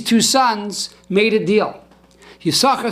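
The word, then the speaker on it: יששכר: Now Yisachar is spelled Yud, Shin, and a second Shin. But the second Shin is silent. We do not pronounce it.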